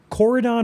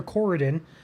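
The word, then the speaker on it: Corydon: Uh otherwise looking down toward Coridon, Coridon or Coridan, another pronunciation there.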